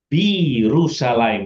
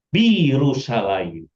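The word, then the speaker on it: בירושלים: Ah, ini dia dibaca B. B karena yud-nya ini seva Birusalim. Bacanya gitu. Bukan B Yerusalem tapi Birusalim.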